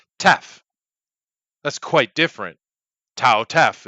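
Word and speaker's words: ταυ: All the Greek we have in English is classical in pronunciation, but that's not what the Greeks say. They don't say tau. They say tef.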